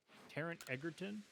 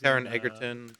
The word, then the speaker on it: Taron Egerton: Taron Egerton, who was Taron Egerton, yeah.